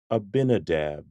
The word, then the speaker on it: Abinadab: this name is pronounced abinadab abinadab abinadab emphasis on the second syllable abinadab look at these